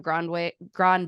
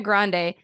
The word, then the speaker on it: Grande: that hard of one why do I want to add a w Grand Grande Ariana Grande infamously wrote a Zamboni